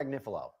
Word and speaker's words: Agnifilo: I think right now, how do I pronounce his name? Is it We've been saying Mark Agnifilo.